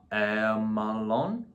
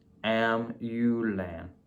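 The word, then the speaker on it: Amulon: Hold on. I'm saying his name wrong. Got to be saying his name wrong here. No. I think this is it. Yes. Amulan. Amulan? Amulan. I'm just going to say Amulan.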